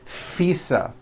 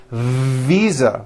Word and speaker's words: visa: just received her international FISA correct no I said FISA with an unvoiced F I should have said visa with a voiced V living I am living